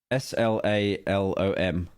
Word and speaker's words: slalom: S-L-A-L-O-M.